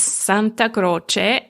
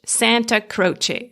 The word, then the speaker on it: Santa Croce: Italian you pronounce it's Santa Croce and in English Santa Croce so Santa like Santa Claus and Croce with it